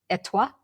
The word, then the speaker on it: Étoile: Well, one thing that Shalini identified was an Amazon Prime show, which we haven't done before, called Étoile. Is that right? Étoile. French speakers, please correct our pronunciation.